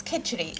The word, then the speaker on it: khichdi: So talk us through exactly how your mum used to make this, and pronounce it for me, please. It's khichdi.